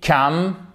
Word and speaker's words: comfortable: Ok, accent tonique ici, « comfortable ». Vous voyez, vous avez votre la délimitation des syllabes à chaque fois.